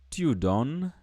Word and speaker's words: donnes: Tu donnes. Tu donnes. Again, here you'll realize that S is silent, so you don't pronounce it.